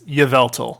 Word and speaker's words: Yveltal: was saying in that stuff like however i pronounced it's yveltal by the way um which is still one